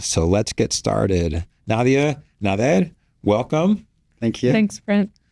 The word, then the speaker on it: Nader: Nadia, Nader, welcome. Thank you. Thanks, Brent. So I gave like the American pronunciation of Nader. You know, I think we'll remember that, but it's closer to Nader.